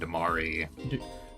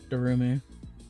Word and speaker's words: Darumi: I'll ask Kiriko and Damari. Darumi. Damari? Darumi. Darumi. So I Darumi.